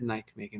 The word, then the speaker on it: Nijmegen: Yeah, I said Nijmegen, right?